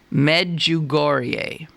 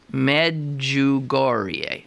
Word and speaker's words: Medjugorje: Now, how do you pronounce it? Medjugorje. Okay. Medjugorje.